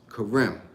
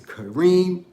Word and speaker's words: Kareem: name my name is karem as far as my mother and her family and friends pronounced it but my name is kareem i'm named after one of my father's emams